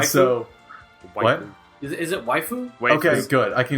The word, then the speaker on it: waifu: Is it waifu? Wait, Okay, good. I can explain this as well. Oh, We initially mispronounced it, and we find it way funnier if we mispronounce it.